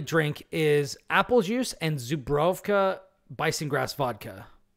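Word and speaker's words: Żubrówka: But anyways, the Polish Party drink is apple juice and Zubrowka bison grass vodka. It's pronounced Zubrowka, but the V is actually a W.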